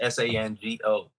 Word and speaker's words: Shango: So the character in which I put together is called Shango. It's pronounced Sango.